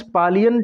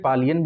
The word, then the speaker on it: Paliyan: ठीक है, तमिलनाडुज पालियन ट्राइब, इसको देखिए, पलिया भी कह सकते हैं, पालियन भी कह सकते हैं, पलियन भी कह सकते हैं।